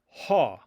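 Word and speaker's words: ὁ: Another form of the word the is ha.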